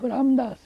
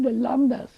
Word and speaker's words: Ramdas: And also, when I was able to not pronounce proper name of Ramdas, I said Lamdas. I can't say Ramdas.